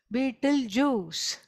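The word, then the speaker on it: Betelgeuse: it next to its grandfather called beet Jews it's that's the name of a very big son and it is spelled very differently okay not how you think it's not the juice of a beetle okay not it is not spelled like that at all it is b e t e l j e u c e okay beet juice that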